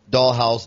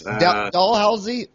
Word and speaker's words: Dalhousie: most famous dental school university in the world dollhouse is it pronounced dollhouse or doll whole see how do you pronounce healthy yes dalhousie Dalhousie yes dalhousie the most famous dental school